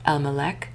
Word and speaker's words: LMLK: of interest were the objects bearing L MLK stamp lamemed mem lamemed commonly pronounced Elmc meaning belonging to the king.